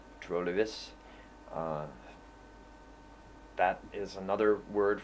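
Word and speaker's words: trolig: probably or likely trolan don't pronounce the G trolis uh that is another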